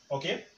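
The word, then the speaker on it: ũka: It's pronounced as O.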